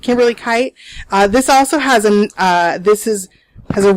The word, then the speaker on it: Kite: It's spelled like night, but with a K and no N. So Kite. Kimberly Kite.